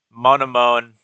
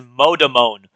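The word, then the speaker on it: Monomon: Monone. I mean, it might be Monone. That's fine. But he says the first N like a D. He said he says modon.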